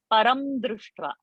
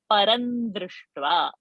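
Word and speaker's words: परं दृष्ट्वा: has to be no so anuswara's pronunciation is depending upon what is the following varga that vergas has to be this anuswara so i'm not going to say param drustra i am going to say parandrishtva now how i will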